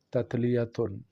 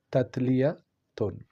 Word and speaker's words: تتلیتن: یا چھوٹی والی تے۔ تلفظ اس کا کیسے ہوگا، ادائیگی اس کی کیسے ہوگی؟ تتلیتن، تتلیتن، یہ یاد رکھیے، یہ ان جلیل القدر اسما میں سے ہے جو عبرانی زبان میں ہے۔ تو اس کو آپ